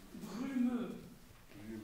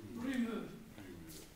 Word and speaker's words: brumeux: Au ciel brumeux. Brumeux. Yeah, U. U. That's tricky. Brumeux.